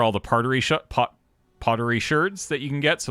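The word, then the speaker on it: sherd: of them yeah and it is it is pronounced shirt yes Shard correct yeah it's an actual word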